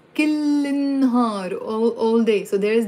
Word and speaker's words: كل النهار: So كل النهار, but pronounced كل النهار, all day. So there is the il. If there's no il, the meaning changes into كل نهار every day. So it's not كل نهار, it's كل النهار, pronounced كل النهار.